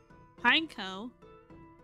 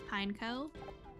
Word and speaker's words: Pineco: how you say it is it pineco Alan but pineco sounds weird I prefer pinecho it sounds cooler that way like pine cone I guess that's true